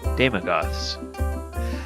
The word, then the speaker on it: Daemogoth: We're going to be looking at the Daemogoths. I always pronounce that incorrectly.